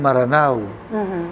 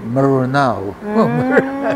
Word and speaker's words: Maranao: Kaya ngayong Maranao, hindi yun Maranao. Hindi rin yun Meranao, kundi Marunao. Yung swa.